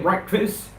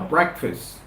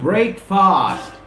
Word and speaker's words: breakfast: I haven't had my breakfast I wanted people to paint loads of tension to the pronunciation here it's not break fast it's breakfast breakfast breakfast breakfast breakfast